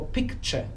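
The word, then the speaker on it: picture: Jeśli nie zrozumiałeś, to znaczy, że nigdy nie zwróciłeś uwagi na końcówkę ture w rzeczownikach, która zawsze czyta się cze. Tu jest nieakcentowane e, bardzo często jest problem z tym dźwiękiem, ale popatrzmy, jaka różnica, prawda? Nie ma ture, powstaje cze. I to cze trzeba zapamiętać, bo pewnie znasz słówko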